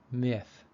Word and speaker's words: myth: short I sound middle the Y in myth is a vowel and it also matches the rule for the short I sound myth number two the i